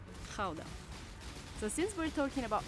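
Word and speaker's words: Gouda: this one behind me depending on whether you're a native you will pronounce it either GAA or Kaa so since we're talking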